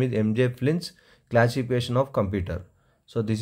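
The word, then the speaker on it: Flynn: This is fly, NNS, but pronounced as Flins classification of computers.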